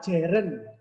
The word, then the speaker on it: gerund: Bentuk yang kedua adalah gerund. Gerund, ya, tulisannya gerun gitu ya. Bacanya gerund.